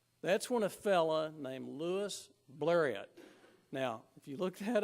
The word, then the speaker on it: Louis Blériot: when a fella named Louis blériot now if you look that up there are a million pronunciations of Louis blériot poor fella Louise Marriott